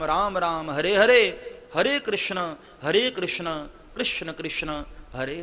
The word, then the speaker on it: कृष्ण: राम हरे हरे हरे कृष्णा हरे कृष्णा कृष्णा कृष्णा हरे हरे जो लोग कृष्णा बोलते हैं ना वह उच्चारण ठीक नहीं है कृष्ण है हां लेकिन यह भारतवासियों